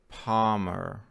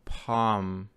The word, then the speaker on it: Palmer: His last name is Palmer. L после A, L не произносится. Ну, такое есть буквосочетание. A-L-M. Вот в буквосочетании A-L-M. A произносится как A. L не произносится. Дальше мы Palmer.